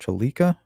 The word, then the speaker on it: Trlica: Rachel, I think it's pronounced Tralica. It's spelled kind of strange, Trlica.